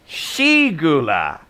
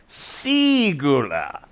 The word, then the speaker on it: Sigula: And that is the moment when Danelan remembers, it's not Shigula, it's Sigula.